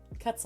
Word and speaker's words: quetzal: quetzal there it is cuts a like pretzel very vague memories of